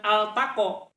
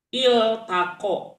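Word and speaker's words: الْتَقَى: mengulang pada kalimat altaqo jangan altaqo Tapi bacanya iltaqo nah bacanya jadi tako Kenapa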